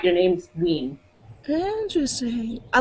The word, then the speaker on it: Wein: It's Wein. Wein? Yes, it's Wein. Rhymes with teen. Okay. The same as weird. It's not German.